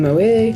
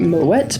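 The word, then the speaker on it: Moët: it should be in Moa. Google that if you want a fun little side quest. I pronounce it Moette because the original owner is Dutch and that is the Dutch pronunciation.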